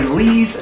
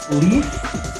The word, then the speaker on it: lees: Some people say leaf, some people say lees. It is pronounced leaf, but it's spelled L-E-E-S.